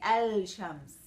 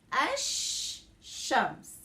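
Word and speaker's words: الشمس: so i say ash i don't say el shams i say ash shams okay uh one more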